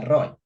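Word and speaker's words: רועה: el Antiguo Testamento eh se utiliza la palabra pastor que se pronuncia Roy eh últimamente no sé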